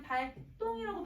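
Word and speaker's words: 발동: 자, 그 다음에 얘는 한자어 리을 받침에다가 구두버서도 할 때 다사조가 왔으니까 얘들아 디귿 발음하면 발똥이라고 발음을 해야지. 그치? 그래서 얘는 발똥이라고 발음을 하고 저기는 3번 조건에 해당하니까 된소리 대기가 맞아요.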